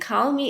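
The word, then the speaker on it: Kahlmi: um i am at call me and call me is pronounced just like call me and it's k-a-h-l-m-i dot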